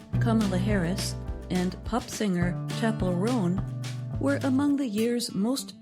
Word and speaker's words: Chappell Roan: The list says her name is pronounced Chappell Roan, not Chappell Rowan.